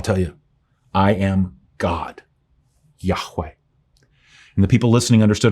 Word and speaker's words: Yahweh: you would pronounce it Jehovah um but we now know that the closest we can make of the actual name in light of the missing vowels is that it's pronounced Yahweh God said my name